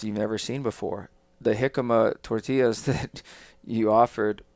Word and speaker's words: jicama: Jicama.